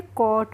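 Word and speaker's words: caught: हैं कोट क्या पढ़ेंगे सी ए यू को हम पढ़ेंगे को और जी एच को हम पढ़ेंगे नहीं और टी का हो जाएगा ट तो इसको हम पढ़ लेंगे कोट और कोट की हिंदी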